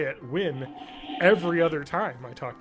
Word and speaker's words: Nguyen: have to say that I've always been told that's pronounced like win or when just to be just